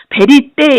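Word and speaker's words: vérité: 그냥 자음에 먹혀 들어갔는데 지금은 발음을 베리떼 이렇게 하는 건 뭐냐면 거기 스트레스가 있잖아요 위에 그래서 그러는 겁니다 베리떼 그 다음 쇼콜라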